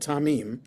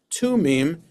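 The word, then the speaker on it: תֻּמִּים: of the word tamim it should instead of a kamat the t vowel it should be a kubut which is the the the three dots in a diagonal line. So it's still spelled the same way tme yud but with that different vowel under the letter t it becomes tumim instead of tamim.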